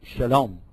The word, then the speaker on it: shalom: they're pronounced different because in the Hebrew dialect, they pronounce some of the sounds like sh, like that. So that's where you get the difference between shalom and salam.